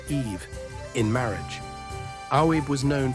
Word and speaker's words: Aoife: To mend the relationship, he offered Lir the hand of his beloved daughter, Aoife, pronounced Eve, in marriage.